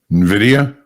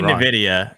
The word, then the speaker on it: Nvidia: just by the way learned that I've been mispronouncing hey hul what's the big company that's giving earnings after the close today Nvidia he said it right Matt you say it